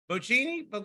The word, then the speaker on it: Bocchini: The commentators are Tony Schiavone and Rich Bocchini. Is that how you say it? Bocchini?